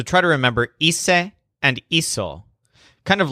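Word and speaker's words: hice: dinner was very easy Joel's word for I did or I made is ESA which sounds kind of like easy but it's spelled HIC e but then joel looks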